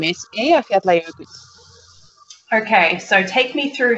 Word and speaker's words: Eyjafjallajökull: The Icelandic volcano name is Eyjafjallajökull.